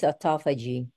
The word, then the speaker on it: autophagy: word autophagy what is autophagy with an accent on the second syllable it comes from the